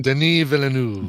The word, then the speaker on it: Denis Villeneuve: It's Denis Villeneuve.